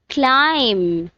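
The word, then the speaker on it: climb: Next one इज क्लाइम, जिसमें B silent है.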